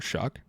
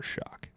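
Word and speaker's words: Shough: Is that how you pronounce his name? Are you just making that up? Yeah. No, it's Shuck.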